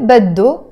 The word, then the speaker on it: بده: هو بده, he wants. هي بدها, she wants. You notice here, we don't pronounce this H in Lebanese Arabic. We drop it.